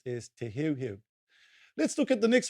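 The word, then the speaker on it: Te Heuheu: often hear people mispronouncing however it is correctly pronounced as te here let's look at the next one e let's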